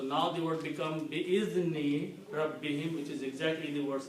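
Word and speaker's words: رَبِّهِم: For easy pronunciation, we pronounce this as him also. So it becomes Rabbihim, easy to say. Rabbihim.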